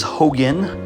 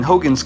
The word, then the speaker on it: Hogne: This is Hogan. At least that's how I'm choosing to pronounce it, like Hulk Hogan.